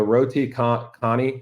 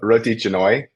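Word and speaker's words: Roti canai: I said um the Roy Connie am I pronouncing that correctly no you butchered that Phil that's okay it's Ro Roy janoi it's kind of like a j it's like Jan janoi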